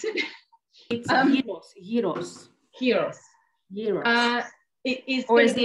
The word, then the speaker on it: gyros: the the greek heroes heroes we'll have to pronounce it heroes heroes uh it is the americans say gyros yes well you must be american in me